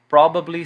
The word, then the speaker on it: probably: Quando vocês forem estudar essas palavras e repeti-las em voz alta, marquem as sílabas tônicas, certo? Então, probably, certainly, definitely. Muita gente tem esse hábito de entonar no final. Então, definitely, certainly, não. Probably, certainly, definitely, ok?